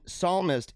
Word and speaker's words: psalmist: Joe Biden doesn't know the p in psalmist is silent what how is this